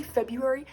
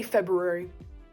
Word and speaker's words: February: you should give it to the r and not ignore it because if you say february you are ignoring that r and you are making that r sad say february because that is the correct way to say it god damn it okay